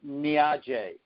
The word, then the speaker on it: Niaje: Say to him, Niaje. Niaje. Niaje. Okay? Niaje. Okay. So I don't know how to spell it, but phonetically it would be like Niajay.